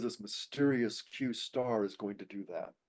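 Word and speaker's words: Q*: qar and it is q asteris but it's pronounced qar well this is claimed to have been an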